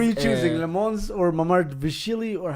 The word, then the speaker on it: Mamardashvili: Le Mans or Mamard Vishili, or how do you say his name? Mamadashvili. Mamardashvili, Yeah.